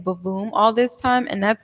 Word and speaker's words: Bwoom: instead of a w no i say b but it's like you know how you say broom but instead of r it's a w so it's boom kind of like a b womb but boom okay i see